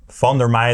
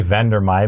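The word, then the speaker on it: Van der Meij: Van der Mei, that's the Dutch way of pronouncing the name, but let's say Van der Mei because that's how English-speaking people say the name.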